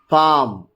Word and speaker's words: palm: Whenever you get the letters A, O and U, the vowels, then we do not pronounce L. Calf, half, palm, would, should, could, fork, york.